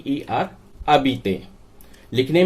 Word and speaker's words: habiter: पढ़ा जाएगा ए बी आई टी आई R Adit लिखने में पूरा आएगा हा ए बी आई टी आई आर लेकिन बोलने में ए बी आई टी आई R Adit तो इसका प्रयोग करना है ठीक जस्ट बात